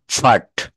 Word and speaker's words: part: পার্ট, PART, এটাকে কি বলতে হবে? ফাট, ফাট। স্যাটারডে, আমরা 7টা বারের নাম বলতে গেলে প্রথমেই আসে স্যাটারডে।